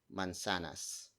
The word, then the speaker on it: mansanas: And then your friend would answer mansanas.